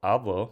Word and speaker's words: hablo: So, for example, hablo, which means I speak, versus habló, which means he spoke.